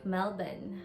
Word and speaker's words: Melbourne: registered nurse here in melbourne or should i say melbourne because that's how they say it here well anyway this first